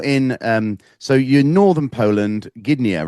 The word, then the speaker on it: Gdynia: You're in, so you're northern Poland, Gdynia, right? That's right. That's how I pronounce it.